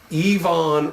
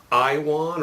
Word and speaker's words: Iwan: blend gourmet aromatic from yvonne reese some folks say i want or ewon but the w is pronounced as a v what'd you forget uh